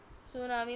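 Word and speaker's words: tsunami: क्यों सुनामी के कारण सुनामी में टी साइलेंट होता है now coming on the strategic location of India.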